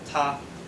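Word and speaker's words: 他: So this character here is pronounced ta, and it means he.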